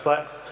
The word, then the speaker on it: FLX: product what we call flex flx flex pronounced flex and biscuit flex is